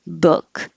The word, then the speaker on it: book: rounded for uh so one thing that can help immediately is to make sure your lips are not rounded book took good cook no